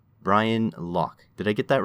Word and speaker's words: Lough: uh i'll accept anything lao lo whatever it's fine but lock is how i would pronounce it yeah excellent i can't